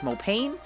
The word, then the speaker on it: Mopane: I have looked up the pronunciation of this, and it's pretty split on whether or not the tree is referred to as Mopani also, or just Mopane, but the wood is Mopani, and it is from that tree.